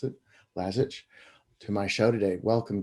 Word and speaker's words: Lazich: So I invited Gary Lazich, that's how I should pronounce it, Lazich, to my show today.